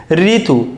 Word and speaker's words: ঋতু: দন্তন এগুলো তোমাদের শিখিয়েছি ঋতু দেখ রয়েছে কি হয়ে যাবে র হয়ে যাবে তাহলে রশি তরু ঋতু